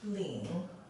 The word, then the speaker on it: 领: this character is pronounced as Ling Li and it's normally used when it's a